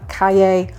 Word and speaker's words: calle: Quick note for non-Spanish speakers, if you see a word, like a Spanish word that's double L, that's pronounced yo. So tortilla, calle, it's not la.